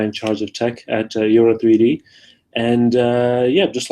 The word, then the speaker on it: eora: the guy in charge of tech out at eora, how do you pronounce it?